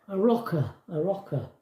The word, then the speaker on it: Arrochar: Still can't remember how you pronounce that. A rocker or something. Is it? What is it? A rocker. A rocker.